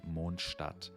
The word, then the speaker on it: Mondstadt: with arguably the most important word which is monstad now monstat in German would be monster and that translates into Moon City or city